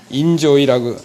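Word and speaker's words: enjoy: 근데 이거 발음 잘 하셔야 됩니다. 할 때 엔조이라 그러면 안 됩니다. 이거 인조이지 엔조이가 아니에요. 인조이라고.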